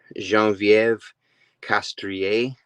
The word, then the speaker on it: Geneviève Castrée: gonna try my best jean-vieve castria I believe is how you pronounce it I was looking on